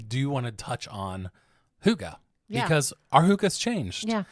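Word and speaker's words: hygge: crazy and listen we talked last season about Huga so we're not going to talk all about Huga but we do want to touch on Huga because our Huga has changed your Huga can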